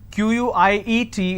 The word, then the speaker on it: quiet: some quiet means silence q-u-i-e-t is pronounced at quiet quite means q-u-i-t-e so